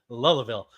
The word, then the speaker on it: Louisville: How is Lewisville spelled? Don't do that. Don't do that. It's Louisville. Okay, I'll say it like I'll say it like you say it. Louisville.